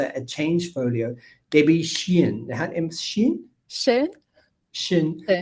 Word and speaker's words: Scheun: Scheun. It's German, right? It's pronounced like the German Scheun, yes.